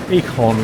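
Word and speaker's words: eekhoorn: that I likey uh the Dutch word for quirrel is Eon which is pronounced similar to Acorn got you I thought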